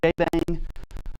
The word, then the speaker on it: JBang: As you see, Jbang uh is is how that is pronounced.